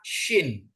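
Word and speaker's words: שׁין: ya Shin ya SH kalau dia titik kanan bacanya syin SH ya kalau titik di kiri Sin ya syin ya Nah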